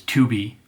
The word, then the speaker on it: Tubi: the last well second to last service is 2b that is spelled t-u-b-i it is 100 free streams free